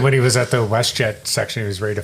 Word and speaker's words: WestJet: Well, when he was at the WestJet section, he was ready to fire the shirts or whatever. Yeah. And he mispronounced WestJet. Yeah, wet jet.